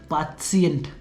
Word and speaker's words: Patient: यहाँ पर जर्मन पर भी सेम चीज़ है, बट उसे कैसे बोलते हैं, पाशिएंट, है ना।